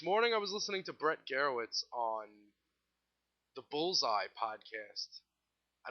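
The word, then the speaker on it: Brett Gurewitz: It was funny how Brett Garowitz. Yeah, that's how you pronounce it.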